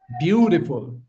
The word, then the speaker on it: beautiful: Where's the stress? Stress is on the first syllable.